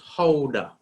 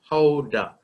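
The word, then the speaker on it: Gouda: Now this one is pronounced Howda, all right? Howda.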